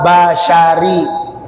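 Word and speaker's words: بَشَرِي: Nah, itu bukan ro tapi ri. Wa bashari.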